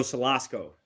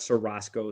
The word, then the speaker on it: Salasco: Joe Salasco, not Sarasco, Salasco.